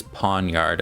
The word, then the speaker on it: Pawniard: Ponyard. Pawn. This guy's name I I may mispronounce quite a bit, but I looked it up. Pawnard and it is Pawnard according to what I found.